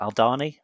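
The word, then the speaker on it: Aldhani: I've I've just finished the Alani Alani, how do you say that? Aldani Alani arc.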